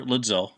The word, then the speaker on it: ludzil: So, you're ludzil, or how do you say it? Ludzil. Ludwig drums, Zildjian cymbals.